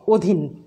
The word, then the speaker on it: অধীন: শরীর অধীন ইত্যাদি শব্দ আমরা কখনো অধীন বলবো না, বলবো অধীন, ও দিয়ে উচ্চারণ করব।